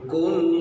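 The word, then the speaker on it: قل: Kalau bacanya Qul huwallahu ahad, makanlah. Muhammad, katakanlah Tuhan itu esa. Hati-hati. Huruf ko di situ.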